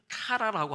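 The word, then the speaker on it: קְרָא: 발음 보면 케라 이렇게 나와 있잖아요.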